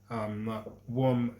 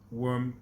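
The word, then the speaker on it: Würm: So the ice age, which started like 130,000 years ago, and ended 10,000 years ago is called warm glaciation. Worm glaciation, which is WURM glaciation.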